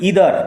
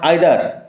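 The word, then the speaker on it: either: অ্যান্ড had never found ইদার অফ দেম again, উচ্চারণ লক্ষ্য করে, ইদার নট আইদার, আর তিনি কোনোটাই, অর্থাৎ মেজাজ আর হজম শক্তি কোনোটাই আর ফিরে পাননি।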